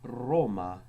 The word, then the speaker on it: Roma: R was always trilled, hence it was called the littera canina, because it sounds as if you're growling, such as in the word Roma, curate.